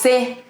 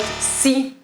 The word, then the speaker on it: sé: It's sé, not sí. Sí means yes.